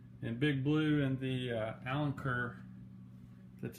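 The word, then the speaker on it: Alenquer: And Big Blue and the Allen Kerr, that's how you say it.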